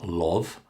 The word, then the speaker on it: love: the letter O, and students so often want to pronounce an O sound. But it's not love, company, no. None of those sounds are correct. We continue with the short ah sound.